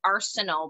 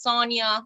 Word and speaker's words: Sonia: It's like when they try to announce my name in English, it's Arsenal, but it's Sonia.